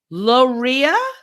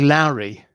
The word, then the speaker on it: Loughrea: They're a 4-piece band hailing from Logria in Galway. How do you say that? Okay. Can at least spell it? Loughrea. I'd say Lowry.